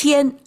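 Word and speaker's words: 天: And I have to look up a dictionary of how it's pronounced. It's tiān.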